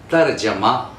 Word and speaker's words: तर्जुमा: 527 पे लफ्ज़ है तर्जमा, तर्जमा या तर्जुमा, दोनों बोलते हैं, तर्जमा या तर्जुमा।